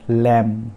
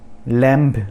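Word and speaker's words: lamb: उसके बाद लैम। लैम्ब नहीं है, लैम।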